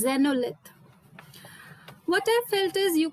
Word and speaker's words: xenolith: like earth and xenolith when you pronounce the word xenolith i had to actually look at the screen and search for the word which you were trying to use so it is zenolith what i felt is